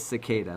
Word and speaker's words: cicada: I thought it was always cicada, like spelled S. Not spelled, but pronounced as if it was spelled S-I-C-A-D-A.